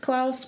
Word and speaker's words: Klaus: It's Claus, I suppose, supposed to be pronounced Klaus, which is how they pronounce it in the movie.